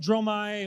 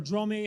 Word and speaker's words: Dromai: positive thing um with dromai or dromi how do you pronounce that troy mai dromai okay with jerome and fey